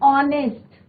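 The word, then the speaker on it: honest: एन ऑनेस्ट, एच is silent, ओ का pronunciation हो रहा है ऑनेस्ट।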